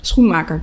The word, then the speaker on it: Schoenmaker: Schoenmaker.